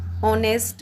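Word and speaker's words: honest: यहाँ आगे चलिए, जोडी वॉज ऑनेस्ट बॉय। ऑनेस्ट में एच साइलेंट होता है तो ओ की आवाज़ देता है। किसकी? ओ की आवाज़ देता है, तो एन ऑनेस्ट बॉय होगा।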